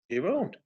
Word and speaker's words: Giroud: I thought it had a D on the end. It does.